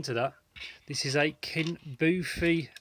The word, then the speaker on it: Kinboofi: I bought this, so yeah, Kinboofi, that's the correct pronunciation.